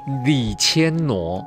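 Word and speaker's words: 李千娜: 那个 " 那 " 念作 " 挪婀娜多姿 " 的 " 挪对， ”，李千挪。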